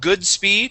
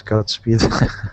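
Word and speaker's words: Godspeed: on this first line instead of good speed it is godp speed oh my God yes it's God speed there you go awesome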